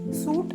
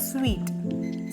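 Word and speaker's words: suite: ഐ ടി ഇതിനെ നമ്മൾ സൂട്ട് അല്ല സ്വീറ്റ് സ്വീറ്റ് എന്നാണ് പ്രൊനൗൺസ് ചെയ്യുക നിങ്ങൾ ഒരു ഹോട്ടലിൽ പോകുമ്പോൾ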